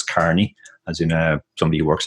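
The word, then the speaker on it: O'Kearney: get wrong as well because of the EA which looks like e but it's actually pronounced just like an A so it's Carney as you know somebody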